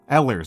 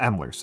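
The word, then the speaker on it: Ehlers: No, it's it's Danlos. It's Danlos. Um, Ellers, not Emlers. Ellers.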